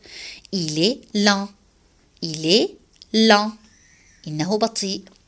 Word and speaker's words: lent: حرف الت في كلمة lent. La lettre T ne se prononce pas. لا تلفظ. Il est lent.